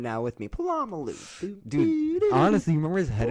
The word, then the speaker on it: Polamalu: Palomano? Troy Polamalu?